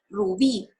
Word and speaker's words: rubí: aquí tenemos varios ejemplos rubí lo divido en sílabas son dos rugby entonces yo tengo que descubrir a donde hago más fuerza rubí pero aquí pues es más fácil porque tiene la tilde entonces ya descubro cuál es la sílaba a la que tengo que hacerle más fuerza al pronunciar las palabras graves tienen acento en